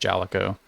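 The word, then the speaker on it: Jaleco: I think I've heard it's pronounced Jalico.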